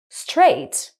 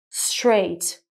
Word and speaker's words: straight: But then if we take the third word, straight, again, GH is also in the middle of the word, but the sound is different. It's what we call a silent GH, straight.